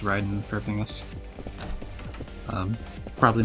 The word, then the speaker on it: Raiden: with Mortal Kombat and apparently that's the only place you would ever pronounce it Raiden is from Mortal Kombat. Apparently, it's always pronounced Ryden for everything else.